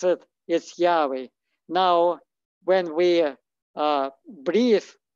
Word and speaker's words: Yahweh: yad yad and uh so and it's to pronounce it is yahweh now when we uh breathe this air we